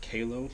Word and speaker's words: QALO: myself my wife's request I think it's pronounced que lo q al o ring